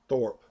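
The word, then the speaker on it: Tharpe: T-H-A-R-P-E, Thorpe.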